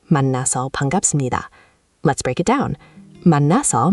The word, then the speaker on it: 만나서 반갑습니다: The first is 만나서 반갑습니다, pronounced 만나서 반갑습니다.